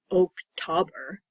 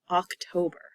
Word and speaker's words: October: It's not October. That sounds silly to me. It's okay if you say it like that, just know that people might not know what you mean. October.